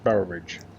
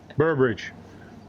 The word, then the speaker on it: Boroughbridge: afternoon we are back in bower bridge i said it wrong good night burbridge welcome uh no welcome